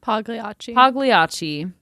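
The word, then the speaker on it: Pagliacci: 1849 the Opera and I I have not pronounced this right I don't think ever piai pgachi pgachi thank you did it with I only know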